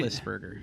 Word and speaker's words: Roethlisberger: Roethlisberger.